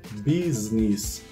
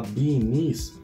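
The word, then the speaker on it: bee's knees: Mas ele deve ser pronunciado com esse S, business. E eu, por sempre achar mais bonitinho falar beanies, falava beanies. Mas não é beanies, vou falar business.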